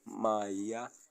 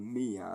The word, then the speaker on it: Maya: pyramids, but then yes, the Y is pronounced as an I, not an E. So your name, as it is spelled, Maya, should be able to be read as that, Maya, and not Mia, as I thought.